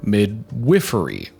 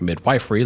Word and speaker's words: midwifery: prestigious graduate program for Midwifery not mid wiy like I thought but I guess you pronounced it Midwifery midwif midwif but she